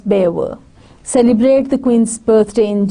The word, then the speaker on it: Belvoir: They put milk in their tea, drive on the wrong side of the road, pronounce Cholmondeley as Chomley and Belvoir as Bever.